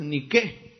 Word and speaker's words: Nike: en los anuncios pero la gente dice Nike porque viene de los Estados Unidos pero realmente Nike no es una palabra en inglés sino que es una palabra en griego la pronunciación correcta es ni qué porque no es inglés es griego Pero qué es niqu